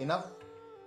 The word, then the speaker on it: enough: कई बार अंग्रेजी में GH का उच्चारण घ न होकर फ होता है, जैसे ENOUGH इनफ, ROUGH रफ, COUGH कफ। यहाँ पर घ का उच्चारण नहीं है, इनक रफ कग नहीं, इनफ रफ टफ, यानी फ का उच्चारण।